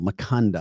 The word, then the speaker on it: Maconda: Maconda. Maconda. Okay. Very good. It rhymes with Wakanda.